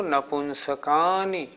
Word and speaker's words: नपुंसकानि: नारक सम्मूर्छिनो नपुंसकानि, नारक सम्मूर्छिनो नपुंसकानि, नारक सम्मूर्छिनो नपुंसकानि। नारक सम्मूर्छिनो नपुंसकानि। इसके उच्चारण में भी नपुंसकानी नहीं बोलना, नपुंसकानी।